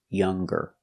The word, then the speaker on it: younger: a verb with ing no G sound singing and hanging but if you change an adjective with e you make the G sound longer stronger younger or if you change an